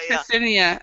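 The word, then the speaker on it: Ksenia: but it's very difficult for English person pronounce it To because pronounce it. it's KS. Yes. Yeah. Ksinia.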